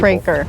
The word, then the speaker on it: Kroeker: It's spelled Kroeker. That's why it confuses some people. Kroeker.